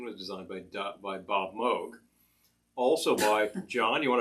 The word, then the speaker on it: Moog: by don vukla whereas the moog that's the correct pronunciation was designed by by bob moog also by john you